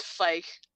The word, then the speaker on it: Ficus: However, Ficus, as you're moving through, your character's name is Ficus, right? Am I pronouncing that right? It's Fike. Fike.